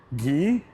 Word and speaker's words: Guy: One of the cool kids picked guy and was immediately disappointed when the teacher pronounced it as Gee or G is G.